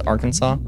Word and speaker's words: Arkansas: Tex Arkana Tex Archana have you ever noticed that Kansas is Kansas but Arkin Arkansas is spelled like Arkansas but it's Arkansas yeah what was it